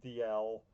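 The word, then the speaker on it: Dalziel: Yannick Dalmas, Ryan Dial, really bothers me that that's pronounced Dial, Dave Darland, Bernard Darniche,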